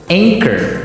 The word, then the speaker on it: anchor: Anchor. Another boat word here. Anchor. Anchor. Anchor. Now, it's spelled A N C H O R. Right? But you don't pronounce the ch as you normally would.